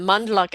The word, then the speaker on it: Mondloch: in LinkedIn monl we don't pronounce the D but the D is there m o n d